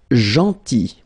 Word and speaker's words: gentil: Then gentil, so remember this final L is not pronounced, gentil, gentil, and it's nice or kind.